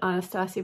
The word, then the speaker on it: Anastasia: to that brand but some of you laugh when you hear me call it Anastasia Beverly Hills but that's how she how she pronounces it so I feel like